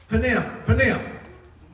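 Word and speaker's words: פנים: The Hebrew word for face is what? Panim.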